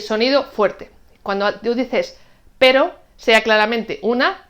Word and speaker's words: pero: Prueba a pronunciar y ver si ves la diferencia. Caro, carro. Pero, perro.